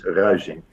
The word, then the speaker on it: Ruysink: The I is a very specific sound. Our language is never. So all the Americans say me Ruysink, an ow or an oi, but it's Ruysink.